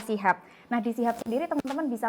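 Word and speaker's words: CHUB: in soal creative hub CH UB bacanya Sihab ya bukan Cup karena beberapa temen-temen yang lain itu kadang bacanya Cup gitu jadi harus dijelaskan lagi kalau Bacanya adalah Shihab nah dilihat sendiri temen-temen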